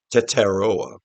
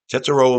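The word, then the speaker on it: Tetairoa: I believe you say his name, Teteroa. Teteroa McMillan.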